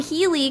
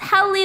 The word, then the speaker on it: Heli: I first met you I called you Healey cuz that's how it looks like your name is spelled but then you're like no it's heli like a helicopter so I'm like okay